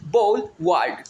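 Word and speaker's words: boulevard: दोनों तरफ वृक्ष हो उसको हम लोग बोलेंगे बोल वर्ल्ड ठीक है यहां पे बाल शब्द नहीं है ये इसकी स्पेलिंग याद रखना है बी ओ यू ल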